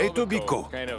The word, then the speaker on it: Etobicoke: Nous sommes à Etobicoke. Bizarrement, ça s'écrit avec un K, mais on ne le prononce pas. Enfin, certains le prononcent quand même.